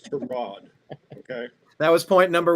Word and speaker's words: Tyrod: it's not Tyrod, it's Tyrod. But he'll never correct you that way. But that's how you're supposed to pronounce it. It's Tyrod. Mr. Taylor's mother didn't name him after a car part. It's Tyrod.